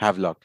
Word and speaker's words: Havelock: So all of these things were, that's how you pronounce it? Havelock, yes.